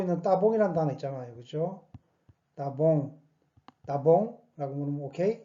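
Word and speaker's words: tá bom: 따봉, 따봉라고 물으면 오케이? 이 말이죠. 이것도 이스타입니다. 그죠? 이스타봉. 이것을, 이 발음을 실질적으로 안 해볼 때가 상당히 많습니다.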